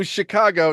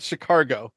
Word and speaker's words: Chicago: not chumsky okay and it's also Chicago not chicargo I I flat out refuse to ever say it with without the r it absolutely has an r in it I was watching the